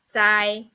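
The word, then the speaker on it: 灾: one means disaster and the pronunciation of it is sine Sai and nowadays it doesn't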